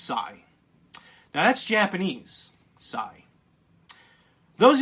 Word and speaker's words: XI: this is the the goal sigh Xie is pronounced sigh now that's Japanese sorry those of you here